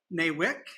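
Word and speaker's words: NAWIC: so there's a hundred and fifteen chapters in new wick as it's pronounced that offer education support networking and also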